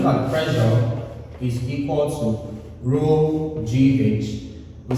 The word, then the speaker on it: rho: It's pronounced rho and represents what?